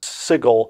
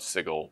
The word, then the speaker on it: Sigil: soft G and sigle the city has a hard G I'm very sorry to